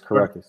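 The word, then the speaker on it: Kurucs: So, I mean, my biggest thing about Kurix, or however you say his name right here for Brooklyn, is Kirkus. Okay, yeah. Karukas, I'm sorry, it's Karukas.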